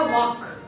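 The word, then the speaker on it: walk: उसके बाद मैंने वर्ड लिखा वॉक। ए और के के दरमियान भी अगर एल आएगा, एल आपका क्या हो जाएगा, साइलेंट हो जाएगा। वॉक, टॉक।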